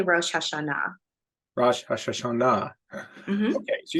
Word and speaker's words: Rosh Hashanah: So Rosh Hashanah, how do you pronounce that again? You can say Rosh Hashanah.